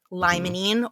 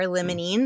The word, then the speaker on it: limonene: how you say it, limonene or limonene, depending on how you say it, pinene, terpenylene, humulene, ocimene, and linalool.